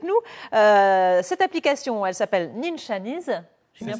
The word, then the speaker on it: Ninchanese: Cette application, elle s'appelle Ninchanese. J'ai bien prononcé ? Ninchanese, voilà, presque l'accent.